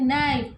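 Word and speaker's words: knife: 6 में देखते हैं नाइफ, तो उसमें के साइलेंट है।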